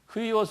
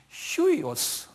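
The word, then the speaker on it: υἱός: 휴이오스 할 때 이렇게 점을 이렇게 찍어 놓으면 이게 H 발음돼요. 그래서 휴이오스. 그 유인데 점을 이렇게 찍어 놓으면 H 발음돼. 휴이오스 그래.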